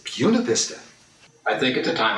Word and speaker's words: Buena Vista: I can speak Spanish, and I know that Bunavista is Buena Vista. And he said, "Phil, it is everywhere else but in Virginia. Here it's Buena Vista."